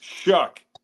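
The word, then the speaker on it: Shough: It's Shook, even though it's like O U G H.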